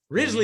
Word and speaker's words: Risley: me risley how's that ridgely very good because last name i didn't know how to pronounce it so he said it's just just think grizzly and take off the g exactly i don't know